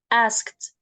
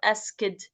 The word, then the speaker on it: asked: ask ask okay don't pronounce it asid don't pronounce it like this way it is asked asked so we we have K after it we have it's pronounced as T okay so it's not ased it's asked I asked okay oh no answered